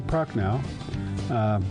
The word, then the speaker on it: Prochnow: And our good friend, John Prochnow. By the way, it's spelled with an H, not a K, right?